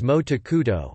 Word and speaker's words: 毛沢東: For example, Mao Zedong's name is pronounced as Mo Takuto, Mao Zedong in Japanese, and the name of